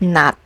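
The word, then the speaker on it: 낮: Even this consonant is pronounced as t as a final consonant sound, like in the word nat, which means afternoon.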